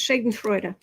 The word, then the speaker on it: Schadenfreude: Nuclear Magenta says it's pronounced Schadenfreude.